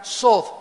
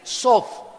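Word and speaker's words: סוד: es la palabra hebrea sod, S de Samuel, O, D de Daniel, TH. La TH en hebreo se pronuncia como una D de Daniel, sod.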